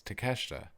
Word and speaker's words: Takeshita: Is that not how it's not pronounced? Takeshita? No, it's Takeshita.